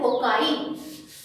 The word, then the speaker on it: cocci: अगर आप इसको प्लूरल प्रोनाउंस करना चाहते हैं तो इसको आप बोलते हैं कोकाई, COCCI, कोकाई. ये प्लूरल होता है.